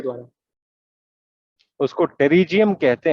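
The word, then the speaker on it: pterygium: उसको टेरिजियम कहते हैं। The spelling is GTERYGYM, टेरिजियम।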